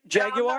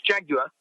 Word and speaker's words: Jaguar: I mean, now, did I say it right, Mike? Did I say it right? Jaguar? No, that's really, yeah, you said it wrong. It's Jaguar.